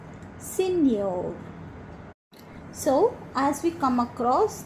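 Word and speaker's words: señor: Juliano Juliano and the last word given is senor senor so as we come across these words we will learn to pronounce them again okay so let us start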